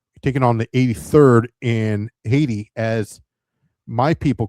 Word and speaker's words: Haiti: Taking on the 83rd in Haiti, as my people call it, IT, because the H is silent.